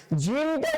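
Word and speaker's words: جيم: তাহলে জিম জিম উচ্চারণ করার সময় শক্ত করে উচ্চারণ করতে হবে, বাতাসটা বের হবে না।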